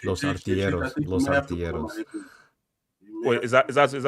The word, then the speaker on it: Artilleros: No, it's Los Artilleros. Los Artilleros. Wait, is that Gunners in Spanish? Yes, Los Artilleros. What's that? Los Antilleros. Yeah. Los Antilleros. Okay, you butchered it already. No. Antilleros. Artilleros. Artilleros. Los Artilleros.